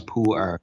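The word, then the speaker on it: Pu'er: the world so pour tea is how to pronounce pour it's actually from a place in China called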